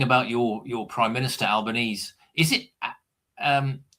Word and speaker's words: Albanese: your your prime minister, Albanese, is it um how do you pronounce is it Albanese or Albani? This is what Alban Albanesei. It's Italian.